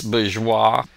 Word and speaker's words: bourgeois: It's bourgeois. The R is not pronounced there. It's a French word.